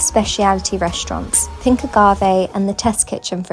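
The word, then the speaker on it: Pink Agave: Pinkagave.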